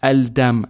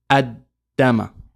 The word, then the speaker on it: ad-dam: Say Al-Dam, Al-Dam, Al-Dam. For the Arab, that's difficult. So we get rid of the Lam and we just say, in pronunciation, Ad-Dama.